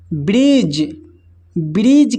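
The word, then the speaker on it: bridge: ब्रिज का मतलब होता है पुल। ब्रिज में देखिए यहाँ पर दोस्तों डी जो है साइलेंट है, डी साइलेंट है।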